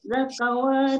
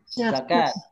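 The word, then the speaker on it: زكاة: Rijalul la tulhihim tijaratun wala bay'un 'an dzikrillahi wa iqamis sholati ita'i az-zakah wa ita'iz zakawati. Bukan zakawat, zakat.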